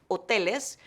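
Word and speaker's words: hoteles: make reservations at hotels Oh Telus remember the H is silent and at restaurants rest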